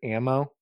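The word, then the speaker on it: amo: How do you pronounce this? Bringing the horizon record. Ammo. Ammo. Oh, yeah. Ammo.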